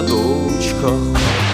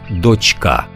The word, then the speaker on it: дочка: донька донька і дочка ось наприклад група Мандри з наголосом трішки помилилася мельникачий млин на горі Чарівна дочка а правильно мало б бути дочка до речі щодо доньки